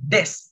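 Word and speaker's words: です: Nah, itu su-nya enggak usah dibaca, cukup des.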